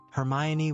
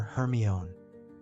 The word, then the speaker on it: Hermione: Hermione was now teaching Crumb to say her name properly. He kept calling her Hermon.